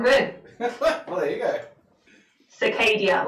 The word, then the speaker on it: Scy'Kadia: Scy'Kadia, like cicada, but with a long A.